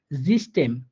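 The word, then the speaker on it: System: আর এটা বলবে জিস্টেম জিস্টেম, অর্থাৎ এখানে ই এর মতো করে উচ্চারিত হয়েছে ইয়রটা অর্থাৎ ইপসিলনটা, সরি। তাহলে দুইটা উদাহরণ দিছি আমি কিন্তু, হ্যাঁ দুইটা নিয়ম দুইটা উদাহরণ দেখাচ্ছি।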